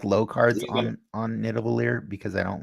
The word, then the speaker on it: Nidavellir: Nidavellir. It's the. All right. It's the. So do I play Wave here on the left or the middle? I generally like low cards You gonna, on Nidavellir because I don't like to hit yeah.